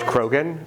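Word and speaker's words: Croghan: George Krogan. C R O G H A N. Wait, can you spell it again?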